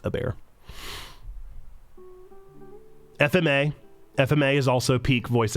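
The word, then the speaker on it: Hebert: That's how Zando told me I'm supposed to pronounce it. I always said Kyle Ebert, but apparently it's Ebert.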